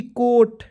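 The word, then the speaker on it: coat: सी ओ ए टी, कोट।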